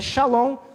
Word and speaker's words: Shalom: Você vai entender, é Shalom não tem outra pronúncia, shalom, shalom.